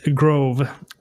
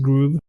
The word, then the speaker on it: Grove: Apparently it's Grove, I would assume, not Groove.